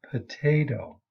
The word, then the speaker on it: potato: The same thing happens in the word potato. It's unvoiced in standard pronunciation, but in an African American vernacular or in Southern white vernacular English, it's voiced.